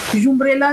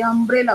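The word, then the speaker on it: umbrella: U is also pronounced as A. आप देखो अम्ब्रेला में भी यू को आ प्रोनाउंस करते हो, यूम्ब्रेला नहीं बोलते, अम्ब्रेला बोलते हो.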